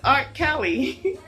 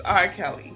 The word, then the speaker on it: R. Kelly: His name is Art Kelly." And she pronounced his name Art Kelly, as in art. And then she later realized it was R. Kelly.